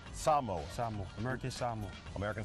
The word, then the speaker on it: Samoa: Because see, us in the States always go No. Samoa. Yeah. It's Samoa. American Samoa. American Samoa.